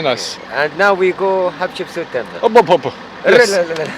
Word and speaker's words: Hatshepsut: We're going to Hatshepsut temple. How do you say that? Hatshepsut? Hatshepsut. Okay. That's the name of a pharaoh? Yes. Of a king? For the queen, Hatshepsut.